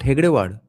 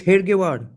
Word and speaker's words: Hedgewar: It's Hedgewar, not Hegdewar. Holy shit. All this while I knew it was Hegdewar. Let's see what's the spelling here. It's Hedgewar.